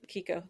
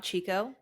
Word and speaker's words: Kiko: wrong anyways I like Kiko the kiko one I I I like okay is that how you say it it's not Chico nope oh I've been saying it wrong I said Chico for all like and